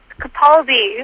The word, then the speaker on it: Capaldi: of this new doctor Peter how do you pronounce his last name Capaldi Capaldi there you go all right so give